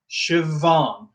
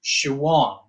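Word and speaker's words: Siobhán: And then a BH, Siobhan. Now in some dialects this changes. In the dialect I would use in Northern Ireland, I would pronounce this Siobhan. Siobhan. So that can alter depending on your dialect.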